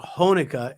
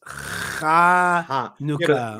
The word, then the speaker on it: Chanukah: It's not Honika, it's Chanukah.